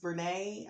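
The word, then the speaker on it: Brené: The author is Brene, I believe is how you pronounce it, Brown.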